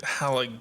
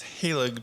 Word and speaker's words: Halig: Yeah, I've been pronouncing it Halig tree, which is wrong. It's Halig tree.